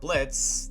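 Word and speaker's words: Blitzø: The company consists of a group of 4, the owner and leader Blitz, the O is silent, voiced by the iconic Brandon Rogers, one of my favorite comedians.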